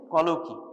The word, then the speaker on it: colloquy: in the community coloy the pronunciation is coloy perhaps you know about the terminology colloquial word colloquial word local language from that this terminology has come follow key what is